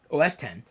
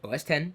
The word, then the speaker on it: OS X: on the Mac desktop, OS X, that's how you say it, OS X, not OS X.